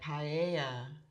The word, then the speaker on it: paella: We had paella.